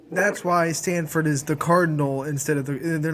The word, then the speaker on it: Cardinal: It's the cardinal, not the Cardinals. It's the color, not the bird, basically.